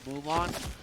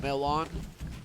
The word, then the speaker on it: Milan: It almost sounds identical to Mulan, but it's Milan. Not like Mulan from like the Disney character, etc.